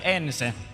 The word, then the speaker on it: ENCE: How are we cheering for ENCE today? In Finland we say ENCE, but ENCE is okay as well.